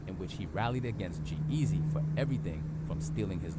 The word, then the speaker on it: G-Eazy: saying that name wrong is G-Eazy Not Easy E or whatever I said anyway easy player my bad G-Eazy my bad couldn't have